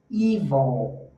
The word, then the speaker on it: evil: Evil, aí tem o wood, que é madeira.